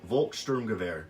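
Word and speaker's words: Volkssturmgewehr: everybody you know I know not everybody can pronounce everything correctly but it just this is the Volkssturm Gewehr okay this is one of the new DLC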